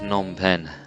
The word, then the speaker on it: Phnom Penh: earlier than that and finally come to James pronounced Phnom Penh all I am bad pronouncing place name so